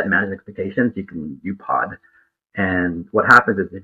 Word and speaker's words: UPOD: So basically, it's keeping your promises, but even better, it's something that I pronounce UPOD, U-P-O-D, which is an acronym for under-promise and